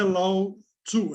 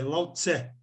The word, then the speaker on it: Lao Tse: E não é Lao Tzu, é Lao Tse.